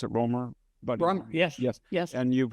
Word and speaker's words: Romer: Is that how you pronounce it, Romer?